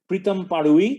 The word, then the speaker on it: Pritam Parui: This year it's being presented to Pritam Parui. That's the right pronunciation, though the spelling is a little different.